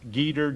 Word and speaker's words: Geter: In order to spell that, I'm going to make sure that I have it down. It's Geter, Geter, Rhymes, Rhymes.